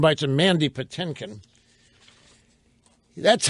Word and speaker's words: Patinkin: Now, I want to get to these sound bites of Mandy Patinkin. That's how you pronounce his name. It's not Patinkin. It's spelled Patinkin, but it's pronounced Patinkin.